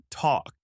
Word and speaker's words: talk: The word is talk. T A L K. The L is silent. You say talk.